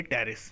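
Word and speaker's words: Pteris: टेरेस इसका example है यहां पी साइलेंट रहता है तो हम इसको पढ़ेंगे टेरेस ठीक है और या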